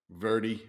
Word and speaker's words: Verdi: in the big Northeast uh John Verde verza Verdi how do you pronounce it sir Verdi with my horrible Brooklyn accent the accent's cool